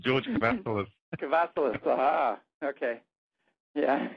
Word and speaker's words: Kavassilas: Yeah, you got it right the second time, George Kavassilas.